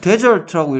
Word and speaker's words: desert: 그래서 얘를 뭐 얘를 desert라고 읽어야 돼요? dessert라고 읽어야 돼요? 그러면 디저트라고 똑같이 쓰고 데저트라고 읽으면 강세가 이름절에 강세가 있다는 얘기거든요.